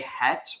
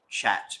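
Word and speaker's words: חית: you can't pronounce that say het rather than chat because chat makes it seem like like I if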